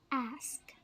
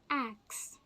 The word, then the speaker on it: ask: next mispronounced word is ask ask most people get confused with the word axe ax a XC and